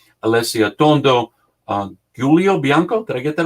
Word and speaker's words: Giulio: I'm going to try to get all the pronunciations. Alessia Tondo, Giulio Bianco. Did I get that right? Correct. Giulio, okay.